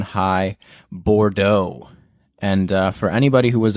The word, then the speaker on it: Bordeaux: like super hyped but so many people had no idea how to pronounce bordeaux we had like bordux's board ducks was the most common mispronunciation for that black and